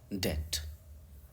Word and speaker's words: debt: तो क्वेश्चन आएगा आपको कि बीइंग अनेबल टू पे वंस डेट, DEBT को डेट पढ़ते हैं।